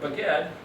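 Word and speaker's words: בגד: Bet, Gimel, Dalet happens to be the word baged. That's the way you pronounce it.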